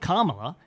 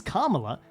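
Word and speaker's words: Kamala: would correct people say no no it's not Cara it's kala but it isn't KLA it's it is carala because Americans say karma put a Karma there to Mark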